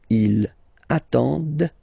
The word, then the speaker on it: ils attendent: And the last one, same thing, classic ending for il, elle at the plural form, ENT, but then you don't pronounce them. Ils attendent, okay, so remember you get to pronounce this, d at the end, okay.